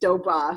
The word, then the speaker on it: Dobbe: know how to pronounce her name because it is spelled obey and and it is doba so I thought it was really fun to